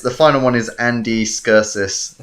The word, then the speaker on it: Serkis: Anyway, and then there's the final one is Andy Serkis. Circus. Circus. It's pronounced Circus.